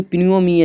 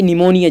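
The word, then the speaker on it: pneumonia: वही होगा आपका क्वेश्चन नंबर सी, यानी कि प्न्यूमोनिया। जी हाँ फ्रेंड्स, यहाँ प्न्यूमोनिया था, इसलिए आपका क्वेश्चन नंबर यहाँ पर यानी कि निमोनिया। जी हाँ फ्रेंड्स, यहाँ पर कहना चाहता है निमोनिया, यहाँ पर पी साइलेंट है।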